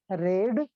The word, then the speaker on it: read: it is V3 a spelling are same but pronunciation will be different of V2 and V3 you have two pronounce it read but you have to pronounce it red and it is also